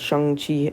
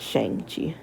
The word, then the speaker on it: Shang-Chi: And for those who don't know, it is pronounced Shang-Chi, not Shang-Chi.